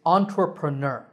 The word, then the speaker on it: entrepreneur: is actually quite easy there are four syllables the first is on the second and third syllables are similar tra and pra the last syllable is ner the stress is on this last syllable so on tr entrepreneur